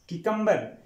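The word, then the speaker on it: cucumber: तो स्टूडेंट्स यहां पे किकम्बर, किकम्बर, यहां पे यानी की आवाज आएगी, क्यू की आवाज नहीं आएगी यहां पे।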